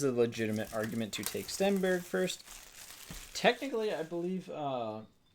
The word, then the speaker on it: Stenberg: legitimate argument to take Stenberg first. Technically, I believe uh you pronounce Sten Stenberg's name and Forsberg, too, like is pronounced uh like Berg is Berra in um Swedish.